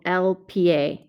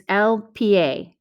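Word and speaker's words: el pie: feet so it's not pie it's lpa you've got to pronounce both of those letters in in spanish now this makes sense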